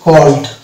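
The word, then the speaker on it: called: এটা যেমন asked, asked, asked, এখানে আস্কেড হচ্ছে না, এটা হচ্ছে আস্কড, অর্থাৎ ই সাইলেন্ট হচ্ছে। এটা যেমন হচ্ছে কল্ড, কল্ড, এটা কিন্তু কলেজ না, কল্ড, আমরা উচ্চারণ করি কল্ড।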